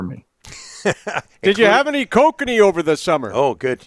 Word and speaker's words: Kokanee: four seasons for me did you have any Kokanee over the summer oh good yes Ross we've talked about this Rick it's prevent it's pronounced kokani Actually I don't even know is that what